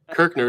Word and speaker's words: Kirchner: you know you know oh is it kirchner kirkner is right yeah see that that's a good old lancaster county name i i believe i've heard that over and over again we've had kirchner customers and and and